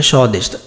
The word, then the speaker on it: স্বদেশ: এই যে ব ফলার উচ্চারণ কিন্তু হয়নি, তাহলে স্বদেশ। দন্তস্য তালব্যস্য মধ্যন্যস্য যেটাই থাক তালব্যস্য হবে, এবং তারপরে দেশ, স্বদেশ। এখন তুমি যদি শেষে তালব্যস্যর নিচে যদি হসন্ত না দাও তাহলে সেটা উচ্চারণ কি হবে স্বদেশও। কি উচ্চারণ হবে স্বদেশও।